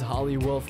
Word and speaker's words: Holly Wolf: topic for today is holly wolf which rhymes with Hollywood this may or may